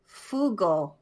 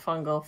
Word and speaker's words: Fugal: Finny Fugal. Not Fungal. Fugal. Finny Fugal.